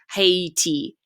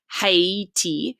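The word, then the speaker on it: Haïti: the e separately or the country of haiti haiti haiti so you have to make sure you pronounce the ah and then the e um separately the trema next we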